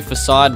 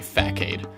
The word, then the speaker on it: Facade: People say Facade, but there's no accent on the C. There's no cedilla, if you will. So I know how you're supposed to say it. They meant for us to say Fack-Aid.